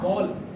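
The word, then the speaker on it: wall: वॉल। क्या कहते हैं? वॉल। ए के बाद जब भी LLLCH आएगा, AO की आवाज देगा, तो हमेशा आपने इसे वॉल प्रोनाउंस करना है।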